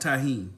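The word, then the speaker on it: Tajín: look that up because I've been calling this stuffed a gene and team tae Jin whatever man you it's pronounced Tajin so I had to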